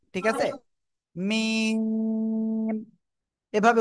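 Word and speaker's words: ميم: জোরে বলেন সবাই মিম অক্ষরটা দুই ঠোঁটের শুকনো জায়গা থেকে অর্থাৎ বাহির থেকে উচ্চারণ হবে ঠিক আছে মিম এভাবে উচ্চারণ হবে ওকে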